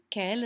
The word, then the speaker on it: quel: k k k k notice that they're all pronounced the same let's move this thing